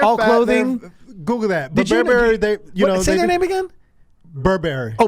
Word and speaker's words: Burberry: and t-shirts are all clothing Google that they Burberry Oh Burberry okay okay yes that's correct correct pronunciation right I'm also not a fashion person